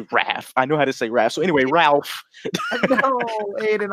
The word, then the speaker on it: Raph: Just say Raph. Raph. Raph. I did. I thought Ralph. It's not Ralphie from A Christmas Story, bro.